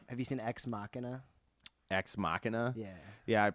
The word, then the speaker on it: Ex Machina: you seen ex machina ex machina yeah yeah I pronounced it wrong when I first watched it I was like machine it's like way more manly though it is a lot more manly but it's incorrect yeah